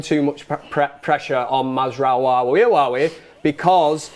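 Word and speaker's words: Mazraoui: is uh impressive mods is the way that mazra I say it properly now uh mazra has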